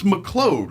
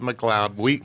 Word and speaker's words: McLeod: It's McLeod, right?